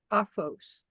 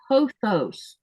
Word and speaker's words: Pothos: So I pronounce Hophos. Say that, that's bugging me. You don't even know how bad Hophos. It's Pothos. So it's P-O, like an O? Yeah, the O is a long O sound, and Oh.